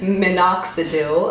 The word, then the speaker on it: minoxidil: might prescribe you minoxidil someone corrected me on how to pronounce it in fact minoxidil I think and that is usually